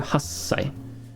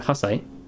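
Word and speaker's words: はっさい: this once very briefly you don't pronounce little tsu it's it's telling you to give it a little bit of a pause before the next pronunciation comes about so if i'm confusing you don't worry when you when you listen to how i pronounce it it hopefully makes sense so what we're trying to say here is sanji sanji do you hear that sanju hassai you hear i'm not saying sanju hasai sanju little little pause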